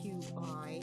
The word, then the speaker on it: qigong: And if you want to look up some information on it, it is spelled Qi-Gong, but it's pronounced Qigong.